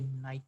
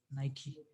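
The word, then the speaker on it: Nike: ये देखें, तो नाइकी नाइकी नाइक दोनों करेक्ट इसकी जो है इसका प्रोनाउंसिएशन है। अमेरिकन नाइकी कहते हैं और ब्रिटिश जो है वो नाइक यूज़ करते हैं।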